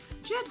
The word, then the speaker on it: Nged: उसने उस वक्त जो है हनी कॉल जो जेड की, दिस इज NGED. अच्छा, हेयर N जो है वो साइलेंट होगा, इट्स कॉल्ड जेड.